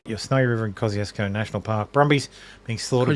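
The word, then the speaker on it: Kosciuszko: K okay well kill everyone in Australia calls it Kosco named after a Polish guy cuz you know we're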